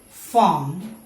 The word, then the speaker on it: farm: Okay, in all these words, you don't have to say letter R. It is silent. So farm, this is warm, barn, born, okay, corn, storm.